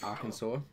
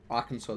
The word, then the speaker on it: Arkansas: Like, how do you get sore? Like, there is literally no sore there at all.